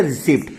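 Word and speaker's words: receipt: उसको क्या पढ़ने हैं रिसिप्ट बच्चों पी साइलेंट होता है रिसिप्ट नहीं पढ़ने इसको हम पढ़ने हैं रिसिप्ट्स फिर आएगा मेरा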